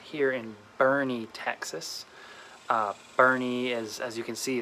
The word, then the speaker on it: Boerne: that works it's a it's an old german name and then it's of